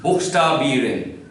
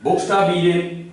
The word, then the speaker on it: Buchstabieren: Buchstabieren. Buchstabieren, that means to spell. To spell. Zum Beispiel kann ich Ihnen fragen, buchstabieren Sie Ihren Namen.